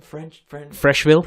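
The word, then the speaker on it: Frecheville: Freshville. Fresh. That's how you pronounce it.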